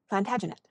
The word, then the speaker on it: Plantagenet: covered with his visor the Latin name for broom is plantag genista and gradually it came to be pronounced plantagenet although Jeffrey was French he